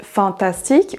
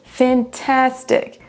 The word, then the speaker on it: fantastic: On ne dira pas It is really fantastic ou fantastic, mais fantastic. It is fantastic. La deuxième syllabe est prononcée plus forte que les autres.